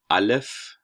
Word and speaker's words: alef: first class um but this is alef it's essentially a glottal stop so something like the um the t's in a cockney english ball um but you're you're not really going to pronounce this letter so that's the first